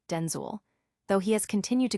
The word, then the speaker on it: Denzel: by his own fame, Washington clarified the correct pronunciation, revealing it rhymes with pencil. He explained that his mother initially used Denzel for both him and his father, Denel Hayes Washington SR.